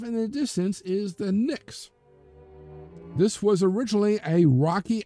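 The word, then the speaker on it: Pnyx: In Athens, this was on the Nyx. Yes, spelled with a P, kind of like pneumonia.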